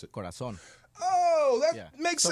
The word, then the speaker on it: Corazón: They pronounce the Z with a lisp. Give me a word that they pronounce differently. Corazón. Okay, now how would you pronounce it? Corazón.